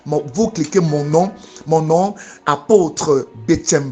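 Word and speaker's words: Betsem: Pour me suivre sur WhatsApp, vous cliquez mon nom, apôtre Betchem Bled. Betchem s'écrit B-E-T-S-E-M.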